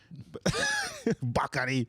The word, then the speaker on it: Bakary: Bakary. Bakary. Just say Bakary. You're fine. Like daiquiri with a B.